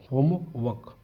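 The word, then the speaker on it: homework: उसको होमवर्क बोलेंगे होमवर्क आर गाप कना इंग्लिश में बहुत केसों में आर को नहीं पढ़ा जाता है हम लोग जनरली भारत में पढ़ लेते हैं लेकिन शुद्ध इंग्लिश वाले इसको नहीं पढ़ते हैं तो आपकी बुक में अच्छा लिखा होम वर्क होमवर्क होमवर्क य अ होमवर्क होमवर्क व व वक है वक य अ का मतलब व वक होमवर्क ऐसे उच्चारण करना आपको इसको हम होमवर्क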